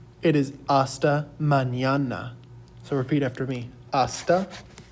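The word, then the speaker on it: mañana: with the little tilde over it this is pronounced in yay so it's not asta manana it is asta manana so repeat after me manana and then together it becomes hasta manana hasta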